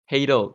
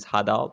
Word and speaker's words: Hadal: Before I continue, so is it pronounced as Hadal or Hadal? Hadal, but most people pronounce it Hadal because Malaysians.